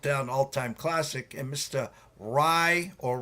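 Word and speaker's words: Aaron Rai: Rye or Ray, whatever we'd like to, what are we calling him? Rye? Aaron Rye, I think, is Aaron Rye, is the right who's pronunciation.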